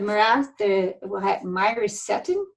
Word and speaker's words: myricetin: Same with the this one, the myricetin, is how you say it.